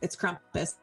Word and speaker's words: Krampus: If you've never heard of it, like people would probably pronounce it that way. But over here, it's Krampus.